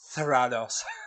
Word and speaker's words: Theranos: you say it better than I I say theranos thos like a Marvel villain yeah thos thos